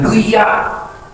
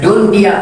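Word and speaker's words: دنيا: Awas dia belajar tajwid jangan duya. Apa hukumnya dunia? Hukumnya idgham, betul. Tapi dibacanya nggak boleh idgham, dia dibacanya izhar. Dibacanya dunia, padahal mati ketemu ya, hukumnya apa? Idgham. Idgham kan idgham, tapi wajib dibaca izhar jadi dunia.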